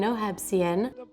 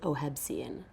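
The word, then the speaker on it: Ohev Zion: So it technically means like love Israel or love Zion, but in English people pronounce it Ohebsian.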